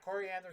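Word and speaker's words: Koriand'r: the seven-drop starfire i think her name's pronounced coriander sorry if i'm pronouncing that no that's right okay yeah coriander star fire uh zahl's fury and what she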